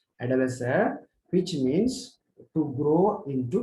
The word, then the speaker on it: adolescere: Okay, how it is to be pronounced as adolescere, which literally means, etymologically speaking, the meaning of that particular Latin word is to grow, okay, or to mature.